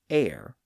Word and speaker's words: heir: Some of which have retained that silent H like honor, honest, our h o r, and air, h e i r.